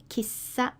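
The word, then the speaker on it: 喫茶: is a shop and Kissa sounds like a kisser uh now we generally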